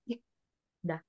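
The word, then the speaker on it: 읽다: So, stay lang po siya sa lugar niya at babasahin mo lang yan na ikda. Ikda. Tama na nga po basa? Ikda. Ikda. Ikda. Hindi mo na mapopronounce yung R, ma'am. Hindi. Kasi belong siya po sa second letter sound. Okay. Parang maging silent siya, ma'am. Silent. Opo. Magiging silent yung first letter niya. Kaya ik lang Po.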